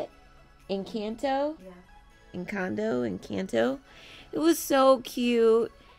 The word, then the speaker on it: Encanto: Encanto, Encanto.